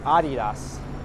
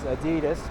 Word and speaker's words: Adidas: and on the corner of Houston Street is adios I learned that for not the correct way to pronounce that from a video many people incorrectly pronounced it as adidas but that's incorrect but it comes from -